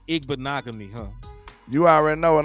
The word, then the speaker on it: Igbinoghene: It's Igbinoghene. It's Igbinoghene. Igbinoghene. Yeah, I know the last part rhymes with mahogany, so it's Igbinoghene, huh?